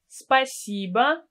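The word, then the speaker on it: спасибо: personal you can add a pronoun for example spiciba tibia spiciba cb in informal situations or spiciba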